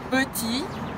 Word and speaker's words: petit: Petit, beleza? Peu, biquinho francês, lembra? Faz a boca do O e fala E, peu, petit, não pronuncia o T final, tá?